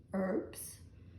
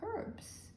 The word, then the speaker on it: herbs: for herbs united states h is considered silent and it's just herbs